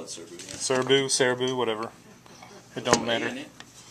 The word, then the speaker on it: Serbu: how do you say it we call it serbu cerebellum whatever it don't matter all you need